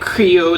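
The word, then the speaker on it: Krio: properly, but you know they have the way that they pronounce the R in certain words in Sierra Leone. So it's like Sierra Leone. And Creole, like it's not Creole, it's Creole. Like you have to roll your R's a certain way, and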